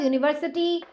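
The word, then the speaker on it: university: लोग ए लगाते हैं क्योंकि भले वो स्टार्ट हो रहा है वोवेल से लेकिन उसकी प्रोनाउंसिएशन उच्चारण जो है वो व्यंजन वाली है। समझ आई बात? यूनिवर्सिटी वाई से होता है। वाई यू is equals to होता है यू।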